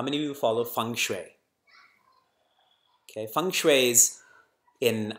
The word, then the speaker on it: Feng Shui: does chit mean consciousness though it's spelt Feng Shui it's pronounced Fung Shui because I see a